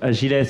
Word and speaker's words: Agiles: Alors voilà, on prononce Agiles parce que c'est ESS à la fin, qui était anciennement l'Apreva, qui est un réseau de garages et de loueurs solidaires.